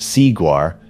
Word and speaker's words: Seaguar: Seaguar, pronounced Seaguar, belongs to Kureha, pronounced Kureha, in Japan.